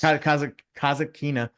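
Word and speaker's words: Kasatkina: So you mentioned that Rybakina is playing tomorrow in the final against Kataskina. How do you say her name again? Yeah, that works. Kazakina.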